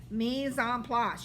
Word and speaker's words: mise en place: And it's not me, it's mise en place. You got to say it right. Okay, it's not mise en place. Nope. That sounds stupid. Mise en place. Place. Like you're going to the plaza.